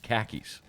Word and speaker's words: khakis: That's how he pronounced khakis. Okay. He would say khakis. Yeah, I get it. Like car keys.